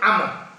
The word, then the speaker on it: Amr: Tapi kalau Amr bin As atau Amr bin Mas'ud itu berarti apa itu tidak ada wawunya. Maka kadang-kadang juga disebut Amru bin Mas'ud. Mestinya bacanya Amr.